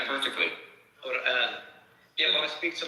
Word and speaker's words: Quran: Can Matthew pronounce the word Quran one more, please? Well, you're saying it perfectly. Quran.